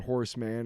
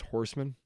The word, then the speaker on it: Horseman: Oh, it's not Horseman, it's Horseman.